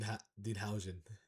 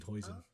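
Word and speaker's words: Huijsen: Bellingham is the only Dean Hen. Dean Hen. Yo, I I got to hear that again, bro. I did not pronounce his name right. It's Dean Hoen.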